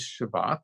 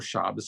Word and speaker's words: Shabbat: different things and um today is shabbat or shabbas i like pronouncing shabbos i'm a traditionalist and it also is